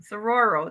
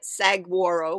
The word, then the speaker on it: saguaro: Sororo. Yes, that's neat when they decorate them too. As some people say it, saguaro, because it's S-A-G, but the G is silent. Saguaro.